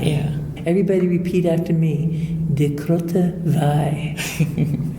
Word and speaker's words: De Groote Wei: Now, can you tell the pronunciation of the cidery? Because I want to make sure that I have that correct. De Groote Wei. De Groote Wei. Yeah. Everybody repeat after me. De Groote Wei.